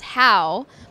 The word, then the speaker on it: HAU: It's pronounced HAU, but tell me more about that.